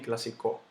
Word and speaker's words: clásico: han sido que este clásico lleva su tilde clásico yo no digo clásico ni clásico yo digo clásico la palabra cónyuge yo